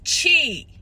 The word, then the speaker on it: Qi: to pronounce it y'all it's pronounced G you got a lot of Chi but this print is spelled Qi so yeah that's what